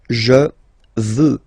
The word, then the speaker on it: je veux: Vouloir, first person, je veux, final X not pronounced.